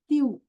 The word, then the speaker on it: tu: two letters next is whenever you see u together u before word before any word after any consonant in French you should sound as you you have to tongue your twist your tongue the way they sound this letter. Okay? For example, when you see tu, you have to sound as thou.